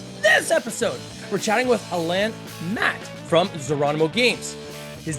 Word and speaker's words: Alain: And now it's Alain, Alain. I'll get you to give us the French Alan, all good.